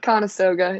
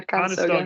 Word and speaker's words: Conestoga: Is that how you say it? Conestoga, yeah, Conestoga.